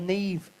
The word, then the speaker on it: Niamh: Now, Neve is spelled Niamh.